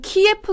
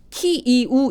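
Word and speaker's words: 키이우: 그래서 그 안에서 또는 키에프 가 아니고 키이 우 입니다 이게 원래대로 크라이 너 발음으로 하면 크 이후 라는데 이거를 키이 우울하고 발음의 도 괜찮다고 합니다 그래서 키우라고 하기로 했구요 크림 반도 가 아니고요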